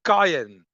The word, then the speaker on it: cayenne: In English, it's cayenne. You pronounce it cayenne.